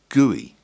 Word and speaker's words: GUI: is reduced to G you I which is pronounced GUI to start a GUI on the PI we